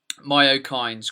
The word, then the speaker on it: myokines: use the word um myo kindes quite a bit have I I've pronounced that properly in your eyes right yes that's correct yeah so myo kinds